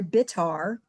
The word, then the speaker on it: Bitar: And when I came out of surgery that afternoon, I opened up my eyes, and Dr. Bitar, rhymes with guitar, who was the resident doctor that really kept my parents glued together, he's at the foot of my bed.